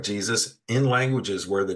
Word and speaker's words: Jesus: not present or distinct, the name would have been pronounced with a sound more akin to the modern English Y. So, that would have been Yesus uh, instead of Jesus, which it just evolved into the J sound.